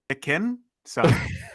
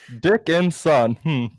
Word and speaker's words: Dickinson: Can you slow that down by syllable for me? Dickinson. Dick and son.